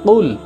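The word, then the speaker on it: قُلْ: সেখানে আপনি যদি বলেন কুল তাহলে হয় হে নবী আপনি খান, নাউজুবিল্লাহ, হে নবী আপনি খান। কুল মানে খাওয়া, খাওয়ার জন্য আদেশ করা, আমরের সিগা কুল, অথচ এখানে উচ্চারণ হবে কুল, দুই নোক্তাওয়ালা কফ।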